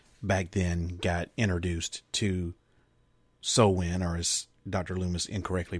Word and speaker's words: Samhain: many other people back then got introduced to so win or as dr. Loomis incorrectly pronounced it Samhain and he also kindly kind of misrepresented it